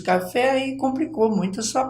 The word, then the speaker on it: café: Você fechou o som da palavra café, e café tem um som aberto, né?